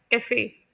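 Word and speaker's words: café: है डाला जाता है मिसाल के तौर पर कैफे तब आप लोग इस वर्ड को कैफे प्रोनाउंस करते होंगे लेकिन ये वर्ड फ्रेंच लैंग्वेज से बोरो किया गया इंग्लिश में सेसे यजली प्रोनाउंस किया जाता है कफे उसके बाद हम लोग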